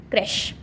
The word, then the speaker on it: creche: And CH will be pronounced like sh, ship, shit, shoot. So the pronunciation of this word is creche.